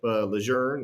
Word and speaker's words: Lejeune: there uh to the West I have Camp Lejeune which most people know it is Camp Lejeune